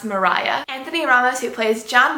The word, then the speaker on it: Maria: Reynolds in act two by the way name is spelt Maria so I have no clue why it's pronounced Mariah Anthony Aramis who plays